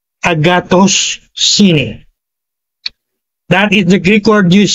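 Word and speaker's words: ἀγαθωσύνη: I want to pronounce it uh very clearly that is Agatos Cine para madali pong mabigkas. Para akong nagtuturo ng Greek ngayon ah. Agatus and then sine. So pagsamahin niyo agatos sine.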